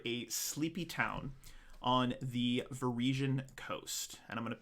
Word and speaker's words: Varisia: It's Verasia. Is it Verasia? Varisia? Varisia.